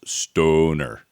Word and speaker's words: Stöner: Well, actually, if it's got umlouts, it should technically be pronounced stoner. Stoner. Yes. An elongated vowel, I believe.